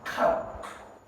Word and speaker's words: coax: If you can remember the soft drink, Coke and Fanta, then you will be able to remember the pronunciation of this word. So it has the same pronunciation as Coke soft drink.